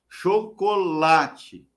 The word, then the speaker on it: chocolate: Aí você vai falar assim, Doni, mas eu estou lendo lá na música e a palavra é chocolate. A sílaba forte é lá.